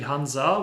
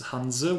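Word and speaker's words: Hanse: probably the closest because in english it's actually hanza with an a in the end but uh it's in germany it's in german it's hanzo with an e in the end and there are still actually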